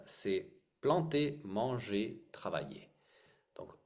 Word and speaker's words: planter: c'est progressif oui d'accord donc c'est et pas plantaire mais comment prononcele les les verbes anaken PL e r